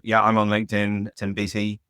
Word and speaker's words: Beattie: Tim Beattie, Beattie. Stellify is the name of the company. It's spelled STELLAFAI.